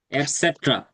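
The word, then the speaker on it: et cetera: এটসেট্রা বলেন।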